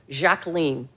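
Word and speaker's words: Jacqueline: fact as I mentioned she preferred the French pron pronunciation of her given name jacen um Jackie had a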